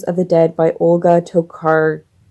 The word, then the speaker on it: Tokarczuk: And then I still have to work on Drive Your Plow Over the Bones of the Dead by Olga Tokarczuk. I've decided that C is silent.